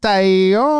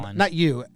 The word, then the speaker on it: Taillon: If you meet him in spring training or anywhere, you see him out, Talon. anyone. Yeah. If you just pronounce his name correctly, it seems like he enjoys He likes Taillon.